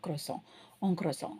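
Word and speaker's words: croissant: favourite அது French ஸ்பெஷியாலஜி சோ குரோசோசான் ஆனா இங்கிலீஷ்ல சொல்றதா இருந்தா குரோசாந்த்ன்னு சொல்லுவாங்க ஆக்சுவலா குரோசாங் ஆக்சுவலா ஆங்கிலத்துலயும் நிறைய எழுத்துக்களை வந்து உச்சரிக்க மாட்டோம் பிரெஞ்சுலயும் நிறைய எழுத்துக்களை உச்சரிக்க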